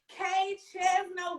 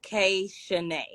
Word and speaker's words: Kay Chezna: here we are looking good we are so kate chasma welcome to the sit and sit girl so thank you for having me but it's actually pronounced k shanae girl get me right because you